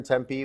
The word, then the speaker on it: Tempe: here in Tempe Arizona sometimes I hear people say tempeh or temp they're not sure how to pronounce it it's pronounced Tempe that last he'd been